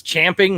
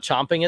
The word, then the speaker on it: champing: way to say and it's champing not chomping at the bit just you don't because